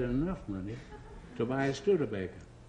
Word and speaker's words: Studebaker: money to buy a stud Baker the salesman who sold it to me he was French and he pronounced it sud and I thought this